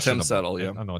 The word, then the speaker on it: Tim Settle: It's spelled time. Well, you spelled it wrong then because it should be Tim.